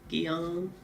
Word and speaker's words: Gyan: That's how I pronounce it. Gyan. G as in gee whiz.